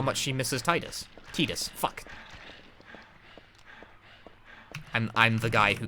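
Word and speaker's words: Tidus: It's definitely pronounced Titus. I want to throw that out at you. It's definitely Titus. I get it wrong too, but it's definitely Titus. If I actually say his name in the game. They have at multiple points in a variety of spin-off material. And also, it's Titus per the Japanese.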